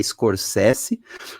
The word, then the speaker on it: Scorsese: Dirigido pelo Martin Scorsese, porque é assim que pronuncia o nome dele, eu aprendi, é Scorsese, com o nosso Homem-Aranha favorito, Andrew Garfield, fazendo o papel de um padre jesuíta português.